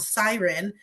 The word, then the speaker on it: Syrn: She launched with a lingerie line called Siren. It's spelled Syrn, and I think the funny thing